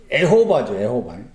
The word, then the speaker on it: 여호와: 그리고 그 단어에 여호와라는 그 단어의 이제 정확한 발음은 에호바죠.